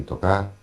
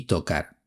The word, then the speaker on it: tocar: hace unos minutos, que Paco de Lucía no pronuncia la R final en el infinitivo de los verbos bajar y tocar. Él dice baja y toca.